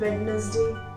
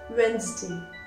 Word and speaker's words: Wednesday: हमारा तीसरा word generally बहुत सारे लोग गलत बोलते हैं, वेडनेसडे. नो, इट्स नॉट वेडनेसडे, इट्स वेंसडे. वेंसडे, ज का उच्चारण किया जाएगा, वेंसडे, वेंसडे.